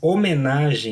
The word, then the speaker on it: homenagem: Manhã tem NH, dígrafo, melhoravam, tem LH, dígrafo, mas homenagem não tem dígrafo, o H é mudo.